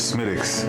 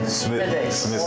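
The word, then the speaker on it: Smithwick's: The proper way to say it is Smittix. Smittix. Oh, yes. Medics. The W silent. Yeah, W is silent.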